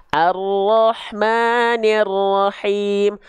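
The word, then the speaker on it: الرحمن الرحيم: lagi arrahmanirahim oke sip Nah sekarang saya contohkan pelafalannya Perhatikan ya saya izin Zoom Oke Baik perhatikan rahmanirrahim arrahmanirrahim arrahmanirrahim shadaqallahuladim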